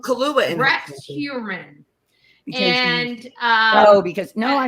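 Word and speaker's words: Heuermann: that the Google pronunciation was There you- incorrect, because my understanding is it's Hurman.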